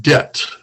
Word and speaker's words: debt: Okay, so that's pronounced debt.